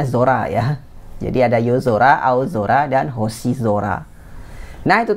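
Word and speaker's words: yozora: yang saya pilih ini cara baca soranya agak berubah jadi Zora ya yang tadinya Sora jadi Zora misalnya pada kata yo Zora yo Zora itu artinya langit malam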